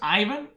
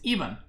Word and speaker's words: Ivan: do you pronounce pronounce ivan even see that's see that's that's the same thing as my name it's not ivan it's even grand prince vasily iii